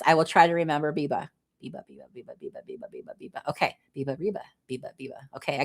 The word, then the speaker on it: Biba: Oh, Biba says, FYI, my name is pronounced Biba, like Reba McEntire. Okay, Biba Brooks. I was calling you Beba, huh?